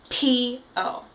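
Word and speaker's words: P.O: and uh that P is very aspirated so it's a very distinct p o um and then his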